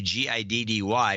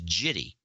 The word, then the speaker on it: giddy: So he sees that G, thinks it's a soft G, and he says jitty instead of giddy.